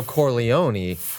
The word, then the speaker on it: Corleone: You could say the Vito Corleone.